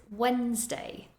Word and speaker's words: Wednesday: it next we have a word with a silent D and that is Wednesday Wednesday the spelling of this word is very strange and it does not look at all how it sounds so listen carefully and